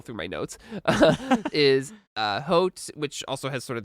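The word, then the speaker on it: Haute: It's pronounced hot. It's fine.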